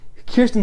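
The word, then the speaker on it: Kyrsten: I always want to say Kristen Sinema because this is how it's spelled. It looks like Kristen, but no. Kirsten Sinema, Democratic senator from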